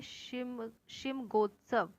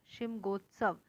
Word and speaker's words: शिमगोत्सव: देखिए, इसका नाम थोड़ा सा अलग है प्रोनाउंस करने के लिए। इसके है शिमगोत्सव। शिमगोत्सव। तो गोवा की होली को क्या कहते हैं? इसे बोलते हैं शिमगोत्सव।